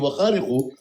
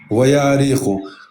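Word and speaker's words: וַהֲרִיחוֹ: Это читается правильно вяриху. Не, не в Вахариху, а в Яариху. Ваяариху.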